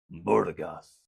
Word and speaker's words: Burgas: [cheering and screaming] And I do have it on very good authority that you are indeed supposed to pronounce it like a scary mafia boss, Burgas.